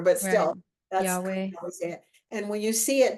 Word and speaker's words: Yahweh: It's often pronounced Jehovah, which isn't so great because there was no J in Hebrew, but still, that's Yahweh.